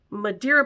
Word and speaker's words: Madeira: to pronounce it I finally learned how to pronounce it Madeira Portugal is having their Madeira Wine Festival this